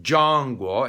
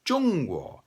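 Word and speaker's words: Zhongguo: hwa is china jungwoo pinyin has it z-h-o-n-g we don't have zh in english and it's not zhang guo it's chung-wu so actually pinyin is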